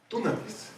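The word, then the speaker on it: δύναμις: Dunamis es porque es con una Y, entonces se pronuncia du, pero es como dinamita.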